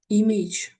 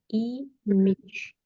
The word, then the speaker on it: image: Image. Мич. Нет. Значит, Image. ударение на первый слог. И там нету дифтонга «эй», там есть «и». Имидж, имидж, имидж, имидж.